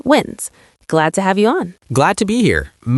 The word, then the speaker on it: Wins: Joining us for the first time on the Lottery Players podcast is lottery strategist Tim Wins, pronounced Wins.